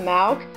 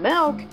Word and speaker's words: milk: No, Dipsy is saying it wrong, like he's saying Malk, like if it's a type of disease. Wow. How do you say it? Well, I normally say milk, which is spelled M-I-L-K.